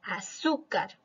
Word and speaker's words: azúcar: tanto si lleva tilde luego tenemos la palabra azúcar que tiene la mayor fuerza de voz en la sílaba por lo tanto si es una palabra grave y también se tilda porque termina en r practiquemos un poco para